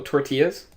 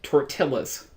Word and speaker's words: tortilla: know someone you know tortillas they say Tour Tillis like Godzilla it's a tort illa was a tort in